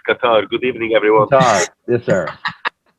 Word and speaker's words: Qatar: aad is from cutter try to say it right cutter it's not quatar it is it is Qatar good evening everyone yes